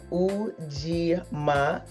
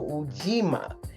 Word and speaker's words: Ujima: It's pronounced Ujima. So, the G is like pronounced. So, Ujima.